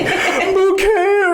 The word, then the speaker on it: Bucket: British lady accent like bouquet residence lady of the house speaking but their name was spelled like bucket.